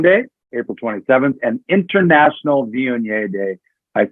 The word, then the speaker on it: Viognier: World Marcelin Day, April 27th, and International Viognier Day.